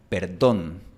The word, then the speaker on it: perdón: Por ejemplo, la palabra perdón. Perdón. En la mayor parte del mundo esta palabra se pronuncia con una D suave. Perdón, perdón. Pero en Bogotá, Colombia, se pronuncia perdón, perdón, con una D fuerte.